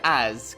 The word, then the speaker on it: as: we have the word as connecting with I becoming as I notice that although as is spelled with s this letter sounds like Z as pronouncing it with